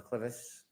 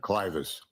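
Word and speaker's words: clivus: Were you a presenter in fractures of the clevis clinical and radiographic features? Yes. Am I pronouncing that correctly? Clus. Thank you.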